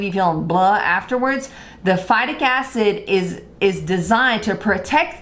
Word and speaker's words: phytic acid: number one reason is phytic acid people will pronounce that differently FIDIC acid all kinds of stuff I call it phytic acid it's designed to protect